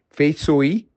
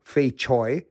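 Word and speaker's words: 翡翠: What you are looking at is fei sui or fei choi, depending on which accent is pronouncing this material.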